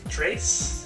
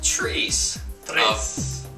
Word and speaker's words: tres: How do you say it in Spanish? Trace? Episode Trace. Tres. There you go.